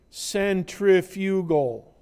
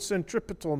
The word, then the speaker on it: centripetal: called the centripetal acceleration spell it correctly cen t r.i.p et al centripetal do not say centrifugal because the direction of this is towards the center and you're gonna have